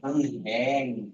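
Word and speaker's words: 은행: এটা উ আর নিচে ন উন আর হ্যা উনহ্যাং। উনহ্যাং উনহ্যাং তো ব্যাং।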